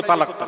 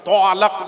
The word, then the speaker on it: তালাক: নিয়েছে আমাকে দেখিয়ে দাও ত ব আকার ল ল আকার তালাক তলা তলাক নয় বাবা ওই তালাক এবার বাংলায় উচ্চারণ করছি